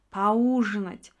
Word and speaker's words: поужинать: Поужинать. Уга түшөт ударение. Поужинать.